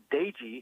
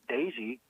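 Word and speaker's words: Doege: happen to listen his last name is now pronounced Dei I always thought it was Doge but it's Jered Dei and he's the NCAA active leader in pass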